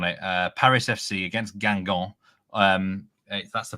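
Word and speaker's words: Guingamp: I'm strong on it uh Paris FC against gangon um that's the pronunciation there some might think it's pronounced Gump it's one of those difficult ones um over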